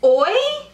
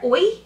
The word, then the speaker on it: Ouai: This is Oi, O-U-A-I, hair care, Oi, I think is how you say it, wave spray.